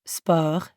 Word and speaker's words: sport: fergus the french word spur sounds super similar to the english word sport but we don't pronounce the t at the end and we use that french e sound again let's try practicing repeat